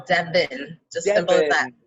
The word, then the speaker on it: Dev'n: It's said how it's spelled, Devin.